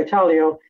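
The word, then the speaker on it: Italio: know people think when I when I say Italo they think Italian because of the pronunciation of of the word but um it's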